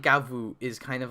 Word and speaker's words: Gavv: So like Gavv, the name is in Japanese, it's Gavvu. You could the katakana there is Gavvu. I'm just gonna say Gavv because it's spelled Gav. That's their English romanization. It's just gonna be easier for me to say Gavv. If you say Gavvu or Gav, whatever, up to you.